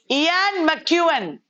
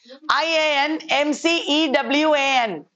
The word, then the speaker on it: Ian McEwan: Ian McEwan, IAN, he is the most important British writer today. IAN MCEWAN, Ian McEwan.